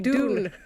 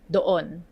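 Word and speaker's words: doon: have don means there far from the English dune. there. And lastly, we have don means there far from the speaker and far from the listener. Somewhere there over there, it's pronounced as don don.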